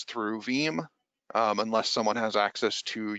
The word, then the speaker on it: Veeam: The name Veeam comes from pronouncing VM as a word.